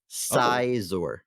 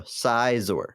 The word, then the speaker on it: Scizor: but my book here my bible says how to say it sizzor so there you go sizeor officially i will take it but also